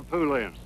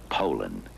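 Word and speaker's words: Poulan: And for over 30 years, they've been mispronouncing our name. Puland po a p. So, we'd like to remind you that our name is Poland.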